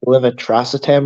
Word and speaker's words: levetiracetam: It's pronounced like levetiracetam or something, but it's Keppra.